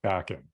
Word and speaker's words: Bakan: bacon bacon um but the correct pronunciation is backing um okay yeah yeah